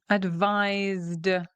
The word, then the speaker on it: advised: So in that case, we end in a D sound.